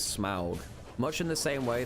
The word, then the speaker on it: Smaug: But the problem is that the pronunciation is Smaug.